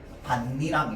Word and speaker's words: 밭이랑: 얘는 발음 어떻게 되는데? 반니랑 이렇게 되는 겁니다.